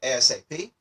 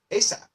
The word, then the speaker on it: ASAP: So you can hear some people say ASAP. I hear that a lot, or I've also heard ASAP so you hear both.